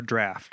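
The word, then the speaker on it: Draught: Guinness Drought or Draft, or I don't know how. Did you say it draft? I'd Draft. say. It's Well, I know draft. you say it draft, but It's spelled drought.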